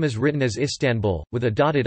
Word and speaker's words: İstanbul: As the Turkish alphabet distinguishes between a dotted and dotless I in English, the stress is on the first or last syllable, but in Turkish it is on the second syllable, tan.